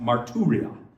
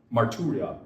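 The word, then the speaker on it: μαρτυρία: That word testimony in the Greek is pronounced marturia. Marturria. Got that good, right? It's only four syllables, so I should be able to handle that. Marturria.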